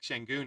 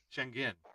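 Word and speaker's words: Şengün: his name oh wow it's shenin not oh my God I thought I was wow we've been saying wrong this whole time well and then later on a show because a habit Ernie Johnson's like shenon again because that's just habit we've been calling him that for so long but it's shangin and he said try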